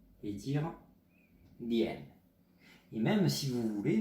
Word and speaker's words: 点: Donc le mot heure en chinois se dit dian, je vous reprononce dian, D-I-A-N, troisième ton.